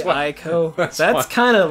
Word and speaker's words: Ico: we write it out I C O. Their I sound gets the I. sound. Yeah. So it's they pronounce it Ico. Ico. Or no, their I gets the E sound.